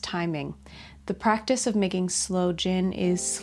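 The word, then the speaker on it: sloe gin: Slow jin. What? I always thought slow jin was spelled s l o w.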